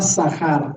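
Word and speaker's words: זכר: Y ahí la palabra acuérdate usa la palabra sahar. Ahí lo pongo en hebreo. ¿Y cómo se pronuncia?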